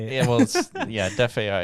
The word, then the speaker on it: DeFAI: Yeah, well, Def AI is DEFAI. So decentralized financial artificial intelligence.